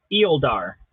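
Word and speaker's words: Euolldaar: here let's let's give the pronunciation right now is eoldar it's e-u-o-l-l-d-a-a-r so the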